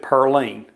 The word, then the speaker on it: Pauline: by the name of Pauline Foster. Now, back in those days, they pronounced it Pearline.